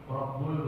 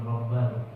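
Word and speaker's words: رَبُّ: kulliambinim la yagfirunuba illaulamin Rabbul bacanya lah. Jangan rabbal rabbul alamin.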